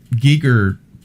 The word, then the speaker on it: Giger: of the in the one of the G Giger aliens Giger Giger I haven't I haven't watched